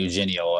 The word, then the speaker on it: Eugenio: But we're going Eugenio out here for Bianchi. It's a hard G, I know for sure.